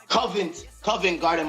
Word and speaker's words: Covent Garden: I want to pronounce it proper. Covenant Market. Covent Garden Market.